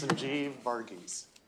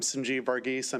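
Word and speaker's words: Sanjeev Varghese: It's much better than I've heard over the years. It's Sanjie Vargis. Good afternoon, chair, vice chair. Again, I'm Sanjie Vargis.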